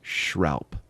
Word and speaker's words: schralp: And that word is spelled SCHRALP. That word is shroup.